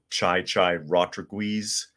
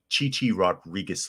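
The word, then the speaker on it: Chi Chi Rodriguez: There's a famous bit where he's talking about tennis player Chai Rodriguez on the air, and then Johnny Fever reaches over and presses the mute button, and he says, "What are you doing?" And he goes, "It's Chichi Rodriguez less.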